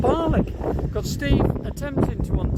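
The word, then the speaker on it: Barnoldswick: moving to Bali more Barn oldswick as it's spelled but the locals call it barley got Steve attempting to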